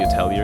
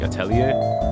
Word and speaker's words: Atelier: Falcom, who does Trails and Ys, and Gust, who makes the Atelier games, or I prefer keeping, like, the French pronunciation of, like, Atelier, but the Japanese games